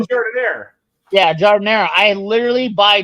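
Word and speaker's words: giardiniera: I have Giardinini. Oh, Giardinera.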